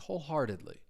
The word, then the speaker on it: wholeheartedly: You're going to hear me pronounce it as a flap T. Wholeheartedly.